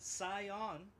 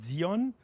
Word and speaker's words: Sion: So if you're a German, you pronounce it Sion. And if you want to use it as the original Sion, you can call it Sion, of course. But Sion is okay as well.